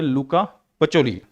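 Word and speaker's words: Luca Pacioli: तो इसका स्पेलिंग, ये जो प्रोनाउंसिएशन है वो है लुका पचोली।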